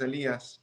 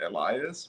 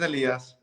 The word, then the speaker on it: Elías: so my name is elias um i used to pronounce it elias which was the sort of american version but then i kind of gave up that um so my name is elias um i've been a